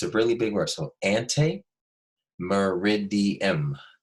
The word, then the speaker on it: ante meridiem: a really big reversal ante meridiem everybody say ante two syllables mer rig D em so four syllables anti meridian it's a